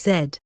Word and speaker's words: Z: he shoots right back it's the city of Zed which as brids do he pronounces a z so after once again